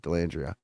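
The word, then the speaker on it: Dellandrea: end on D alandria how do you say his name Ty delandria delandria that's how you say it delandria did you see him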